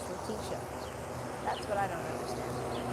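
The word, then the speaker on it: Letitia: He always called her Latia Latitia. Latitia James. But he's wearing the fedora. Why don't they correct him though and say it's Laticia?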